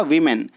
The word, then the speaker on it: women: तो क्या हो जाएगा, वीमेन। ये प्रोनाउंसिएशन में भी चेंज आप देखने के लिए मिलेगा आपको, वुमन और वीमेन। जब आप प्लूरल में चेंज करेंगे तो वो क्या पढ़ा जाएगा, वीमेन, WOMEN, वीमेन।